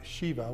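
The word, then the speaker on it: שבע: The name Bashibba is a combination of two words which means well and shea actually in the Hebrews pronounce it Shiva with a V which can either mean oath or seven.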